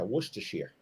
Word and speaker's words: Worcestershire: Is that close pronunciation? Is that close? Were you there, almost there? Wash your sister sauce. Yeah, Worcestershire.